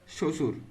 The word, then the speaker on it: শ্বশুর: 18-র উত্তর হবে শ্বশুর। এই শব্দটাতে বফলার উচ্চারণ নেই, কারণ এখানে যে ব আছে এটার উচ্চারণ কিন্তু এখানে হয় নাই।